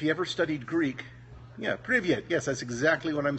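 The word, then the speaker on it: привет: Now, the word for hello in Russian is privyet, and here's how it's spelled.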